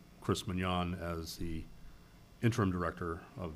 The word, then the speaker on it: Munyon: minutes anywhere, entertain a motion to appoint Chris Mignon as, that's a proper pronunciation of your last name, correct? Yes. I want to make sure we get that right. Chris Mignon as the interim director of the CRA.